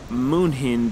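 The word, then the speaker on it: München: So in Germany, Munich is pronounced Munchen, but in English, it's spelled Munchen.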